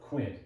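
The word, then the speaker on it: quinte: Again, that's spelled quint, Q-U-I-N-T-E. Prime, where you look at your watch and point your elbow at your opponent.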